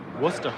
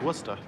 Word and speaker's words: Worcester: Worcester, yeah. That's how you pronounce the city. I mean, it looks like it says something else, but it's Worcester.